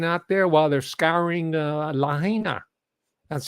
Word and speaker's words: Lahaina: their mascots living out there while they're scouring a liner that's how it's pronounced by the way Lahaina Hawaii is an